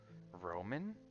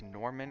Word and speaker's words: Norman: It's Norman Rockwell. It's not Roman. It's Norman.